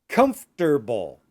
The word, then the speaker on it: comfortable: So don't say comfortable. You want to say comfortable. Comfortable. So we don't say the syllable for.